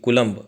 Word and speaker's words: coulomb: हे कुलमचं स्पेलिंग लक्षात घ्या. कुलमचं स्पेलिंग जरा वेगळं आहे. COULOMB कुलंब असं त्याला वाचायचं आहे.